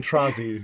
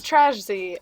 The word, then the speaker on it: Trashy: I've been saying Trozzy this entire time. No, it's Trashy, but Trashy, okay. however people say it, as long as you know that it stems from trash, so Okay, so we're